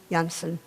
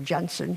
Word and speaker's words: Jansen: odds by one man, Jonathan Jansen, or Jansen, he seems to have two pronunciations for his name, and being carried out with him by you, the students, the youth of the country.